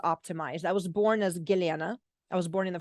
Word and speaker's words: Gellyahnah: I was born as giliana I was born in the former Soviet Union well most Americans can't pronounce my name is giliana they say back as Galiana so that's what I